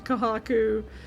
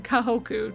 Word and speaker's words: Kahoku: order and actually talked to Kohaku or Kahoku. I keep saying it wrong. Kahoku, not co I keep saying it like backwards.